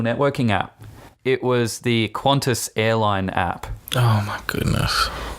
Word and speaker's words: Qantas: Yeah, which should be pronounced Qantas. There's no U in it, but anyway.